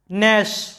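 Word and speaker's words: gnash: আর এই শব্দে এন এর আগে জি আছে, যার কারণে জিটা সাইলেন্ট, জিটার কোনো উচ্চারণ নাই।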